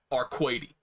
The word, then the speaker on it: Arcueid: okay so tuck says her name is supposed to be pronounced arkwaity no she's arcade from now on if